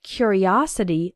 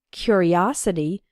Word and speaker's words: curiosity: a curious boy and in the noun form curiosity the third syllable is strong us his curiosity got